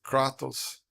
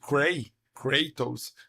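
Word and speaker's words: Kratos: War the main character everyone says katos it is katos because it's Greek and in Greek you would like pronounce closer to katos if you like pronounce it cray katos that is English that's you are reading the name with an English pronunciation so like the same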